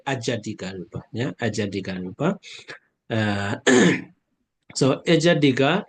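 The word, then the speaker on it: ajjhattika rūpa: But the Burmese pronunciation Ijat, yeah, Ijatika, yeah, Ijatika Rupa. But I think international pronunciation is Ajatika Rupa.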